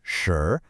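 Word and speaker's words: 蛇: The word is sure, pronounced sure. And hey, just like the word for fish, it's got that clear rising tone.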